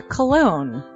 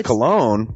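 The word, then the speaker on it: Colon: It is a self-published book by Christopher Cologne. Chris Cologne? Smells good to me. But Look at her. That broke that fucking cold little exterior. He's like, hee. But it is spelled C-O-L-O-N.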